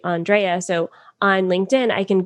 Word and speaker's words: Andréa: on your profile so a lot of people for me for instance say andrea which is fine but it's actually andrea so on linkedin i